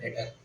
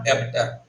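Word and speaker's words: debtor: एक इसका भाई भी होता है, इसका नाम होता है डेटर। ध्यान रखना, this is नॉट डेबिटर, D silent होता है, दिस इज डेटर।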